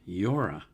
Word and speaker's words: Llora: It's spelled L L O R A, so I'm assuming it's pronounced Yora.